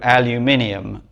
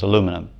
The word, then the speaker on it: aluminum: And the change came in England to aluminium at some point. But the original spelling and the original pronunciation was aluminum.